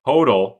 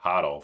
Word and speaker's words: Hodl: until he started his own podcast and started pronouncing it on there. So, without further ado, welcome Hodel to the podcast, who I've been calling Huttle for like four or five years.